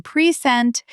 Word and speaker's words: present: In our record, the second syllable chord is still clear, but in present, the first syllable becomes almost swallowed.